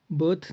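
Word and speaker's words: beau: ये French word है ई ए यू जब भी आता है फ्रेंच में तो उसे ओ प्रोनाउंस करते हैं बी ओ बो फीमेल्स को बेल बोलते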